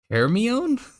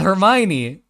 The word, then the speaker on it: Hermione: be P yeah I don't know how to pronounce her Heron Heron the is heron before Harry oh my see hell yeah Hermione right Harry Potter had a movie so uh